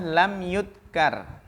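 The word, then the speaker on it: لم يذكر: Al hadisu, nah yang lebih tepat ini bacanya adalah lam yudkar. Karena tidak disebutkan fa'ilnya.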